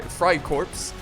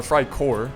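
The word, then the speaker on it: Freikorps: he has the fry fry corpse or fry core excuse me he's got a unit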